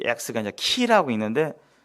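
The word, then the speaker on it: χ: 네, 이 X가 이제 키라고 있는데 이 크리스토스, 이제 크라이스트를 영어 크라이스트를 헬라어로 크리스토스라고 이렇게 읽어요. 이게 원문이고 그리스 원문이고 이 X가 그 발음이 아니라 키죠. 키.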